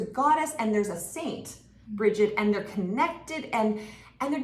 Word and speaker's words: Brigid: But like I'm pronouncing Brigid, but I guess it could be Brid. Like, there's lots of different ways to pronounce it, but she's a